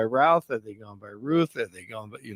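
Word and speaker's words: Routh: big issue but uh so I'm seeing the pronunciation now is Ruth Ruth okay not Ralph ran Ruth you know what right when I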